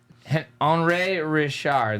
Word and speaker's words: Henri Richard: Henri Richard, that's how they say it.